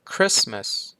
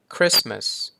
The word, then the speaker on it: Christmas: ผม Listen ต่อ มา Christmas Christmas ก็ ตัว T หาย ไป เนาะ Christmas ถัด ไป often often